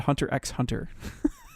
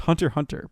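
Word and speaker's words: Hunter × Hunter: to their things and it's not really hunter x if you want to make people mad you call it hunter x hunter it's hunter hunter but how else do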